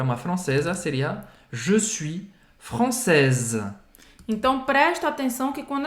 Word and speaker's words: française: E aí, quando a gente fala no feminino, francesa, é como se a última coisa a ser pronunciada fosse o S. Um Z, né? Française.